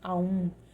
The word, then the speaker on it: Aum: Só que o Om é como se fosse um ditongo, que o correto não, o princípio seria Aum, né?